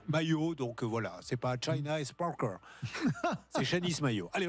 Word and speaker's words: Shanice: J'allais dire Shanice, mais c'est Shanice, on le prononce à la française.